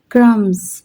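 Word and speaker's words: crumbs: क्रम्स देखिए क्रम्स क्रम्स में भी मैं नहीं बोल रही।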